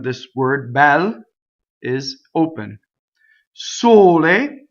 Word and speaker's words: sole: Sole, closed. O, closed E.